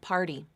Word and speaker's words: party: of the next syllable same thing with party party not part e Part D D party party that that word has